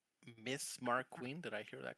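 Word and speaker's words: Mariquin: rooms, I appreciate your hospitality, Miss Mark Queen. Did I hear that correctly?" Here, I'll spell it for you. Whoa. Actual spelling. M A R I Q U I N Marquin.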